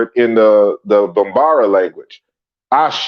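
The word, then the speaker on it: Àṣẹ: Ashe in the Yoruba is how you would pronounce this.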